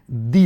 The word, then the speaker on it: the: Here द is pronounce दी। ध्यान दीजिएगा यहां पर द को दी क्यों पढ़ा जा रहा है, क्योंकि जो है यहां पर वोवेल साउंड आ रहा है, वोवेल लेटर आ रहा है।